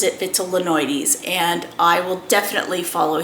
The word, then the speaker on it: vitellinoides: believe that the pronunciation for this it's not vitellinoides it's vitellinoides um Meo from basy Plants uh pronounces it vital linoides and I will definitely follow his pronunciation because